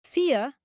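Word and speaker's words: vier: es el número tres cuatro se pronuncia fe en alemán estándar cinco se pronuncia F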